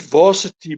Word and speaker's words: VRSTY: And the next band, you pronounce it Varsity, but it's actually spelled VRSTY.